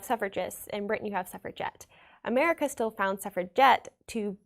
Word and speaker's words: suffragette: made it their own because they would put a hard g in it it would be suffrage get as in they are